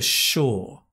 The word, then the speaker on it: sure: is for sure and although it's s u it's a sh sound for sure it's a sure right that long vowel sound i can't say for